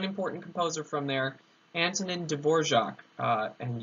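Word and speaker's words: Dvořák: composer from there Antonin Dvorak and yes it is spelled Evo RAK and to get Dvorak anyways um he wrote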